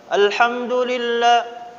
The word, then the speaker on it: Alhamdulillah: Dibacanya tidak boleh alham atau dibacanya rendah nadanya. Alhamdulillah. La-nya tidak jelas. Tapi dibaca dengan al. Nah, la-nya ini ditempel lidahnya di ujung. Alhamdulillah. Dan tidak boleh qalqalah.